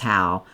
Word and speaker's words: Howe: And I believe it's pronounced how. Um, I know the face, but I don't I don't names get me because some places pronounce it hoe and some how, but I believe it's Steve How.